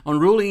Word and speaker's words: Unruly: to talk about enrolling in Raleigh industries and Raleigh it's a unruly I'm sorry I'm saying it wrong unruly industries it's a company it's a designer toy